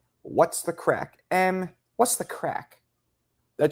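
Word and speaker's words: craic: It's crack. That's how you spell it in Irish, but you can't. It's not crack. Creek. What's the creek? No, it's crack.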